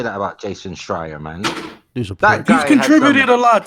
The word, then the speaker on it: Schreier: I think he's Schreier like fire.